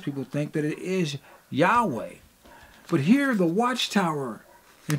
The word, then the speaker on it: Yahweh: it says the following while inclining to view the pronunciation Yahweh as the more correct way we have retained the form Jehovah because of people's familiarity with it since the 14th century